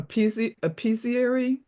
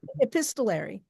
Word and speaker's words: epistolary: um, a Apesiary poem that's in the form of a letter. Akua, you know how to say this. You're Epistolary.